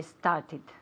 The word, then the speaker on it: started: Yesterday I started. Very good. Started, okay? Con una sílaba aparte, okay?